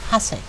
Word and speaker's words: Hasek: Howard, que se llamaba Joseph Hasek, que se pronuncia checo.